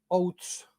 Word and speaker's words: Oates: última persecución es la de la de titus outs eh que se escribe oates pero se pronuncia zs Bueno pues